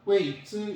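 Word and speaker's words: 遺之: 근데 중국어에서는 보내다, 주다 할 때는 웨이로 읽고 사성으로, 남기다 할 때는 이성으로 읽어요. 그렇기 때문에 여기에서 중국어로 읽을 때는 이즈, 웨이즈 이렇게 읽어야 돼요.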